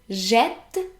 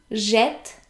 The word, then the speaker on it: jette: So for example, if we have a look at the verb jeter, we get je jette, tu jettes, il, elle, on jette, nous jetons, vous jetez, il jette.